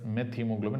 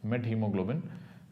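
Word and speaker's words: methemoglobin: met hemoglobin I mean many people pronounce this as meth hemoglobin actually it's not meth hemoglobin meth hemoglobin is different this is what we have to have something called a met hemoglobin then you have uh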